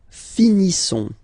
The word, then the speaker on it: finissons: Nous finissons. Okay, I-S-S-O-N-S. Issons. Nous finissons. Finissons. Okay, final S not pronounced.